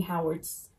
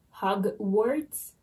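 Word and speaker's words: Hogwarts: again by the way someone told me that i was pronouncing howard's wrong hug words how it's at i don't know i just i always heard howard this book was a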